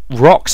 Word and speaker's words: Roks: And that is spelled ROKS, because as we've established, orcs can't spell worth a damn. And rocks are basically exactly what they sound like.